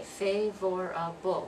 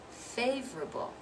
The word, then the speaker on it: favorable: at this next one we don't say favorable which is four syllables we sync favorable favorable we're dropping that second syllable aren't we we look